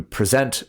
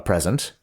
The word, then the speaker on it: present: presence of somebody uh you present a present with that Switcheroo on the emphasis on the different syllables and so it that's